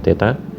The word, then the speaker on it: theta: yg suhu dimensinya adalah theta ini bacanya Teta lalu intensitas cahaya dimensinya